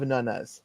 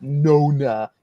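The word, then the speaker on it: nonna: mother's Italian I have nunas that's not how you say it it's nun it's not Nona it's nun I mentioned this to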